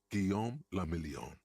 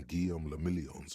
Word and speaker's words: Guillaume le Million: Guillaume le Million. French? If it doesn't rhyme, you're not pronouncing it right.